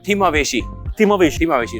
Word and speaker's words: Thimaaveshi: Sir pronunciation क्या है इस बोट का? Will start. It इज थिमावेशी.